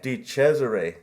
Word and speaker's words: DeChesare: I say it correctly uh it's D cesare di cesare yeah okay well no one really knows how